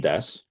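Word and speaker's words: です: cool so heiga Suki des and by the way it looks like Desu but it's pronounced Des this also you can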